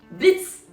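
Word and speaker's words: Blitzø: dans les boss clairement c'est Blitz le ha se prononce pas j'adore Blitz déjà de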